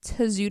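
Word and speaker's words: Tozu: your website yeah you could visit us at a zoo dot-com which is spelled T o z u da also means hard-headed in Spanish and you could find this in Instagram you can find us at to zoo - LLC on Instagram it's a zoo de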